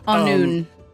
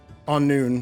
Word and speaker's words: Annwn: Anun is how it's pronounced. and- Sorry. On noon.